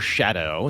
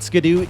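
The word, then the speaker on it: Scadu: is Old English for shadow so it I think ideally meant to be pronounced Shadow just like Gail is pronounced jail but skadoo is more fun and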